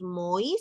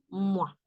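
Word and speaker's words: mois: otra palabra que es no decimos muy sino como que si aquí no estuviese la S como que estamos hablando de pero aquí como tiene la s estamos hablando de meses Ok Eso significa meses pero no decimos sino mua mua la s muda solita tú tú nasal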